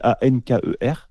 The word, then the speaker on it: Anker: Je ne sais pas si on l'a dit comme ça s'écrit A-N-K-E-R.